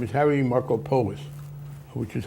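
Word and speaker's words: Markopolos: whistle on Mid off his name is Harry marcoos which is how he pronounced it some non- Greeks would say maropoulos but he says and um he in his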